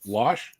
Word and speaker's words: Losh: Josh Losh. Well, Losh, I'll Losh. tell people, I'll be like, yeah, it's like Josh, and they'll be like, oh, Josh Losh. No, just that's how you pronounce it, but nobody can say my name.